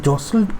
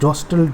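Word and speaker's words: jostled: দে জসল্ড one another. হ্যাঁ, এখানে উচ্চারণটা মাথায় রাখতে হবে, এটা জস্টেলড নয়, উচ্চারণটা হচ্ছে জসল্ড, টি এর উচ্চারণ হয় না।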